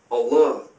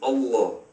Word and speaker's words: Allah: The Arabic word is Allah. The difference is mainly the elongation of the L, Allah, as opposed to Allah.